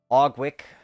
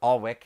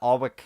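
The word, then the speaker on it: Aughwick: out and we have ogwick or allwick I guess the g is silent uh alwick Bridge which crosses arwick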